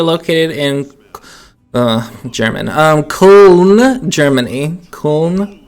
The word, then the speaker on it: Köln: Köln, I think it's pronounced that.